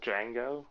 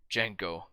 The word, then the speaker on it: Django: what is your name django can you spell that for me d-g-a-n-g-o the d is silent i know like how